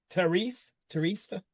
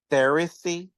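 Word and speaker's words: Therese: Second story, which is Millicent and Teresa. That's how you pronounce it. I was so lost at first. I'm very bad with names. So when I saw that, I thought it was Theresy.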